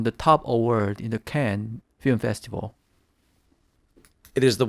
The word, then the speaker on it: Cannes: Some years it's Cannes, some years it's Cannes, but the correct pronunciation is Cannes. Cannes is the correct way, not Cannes.